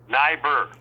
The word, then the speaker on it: Neibaur: Is your last name pronounced Neibaur? Neibaur.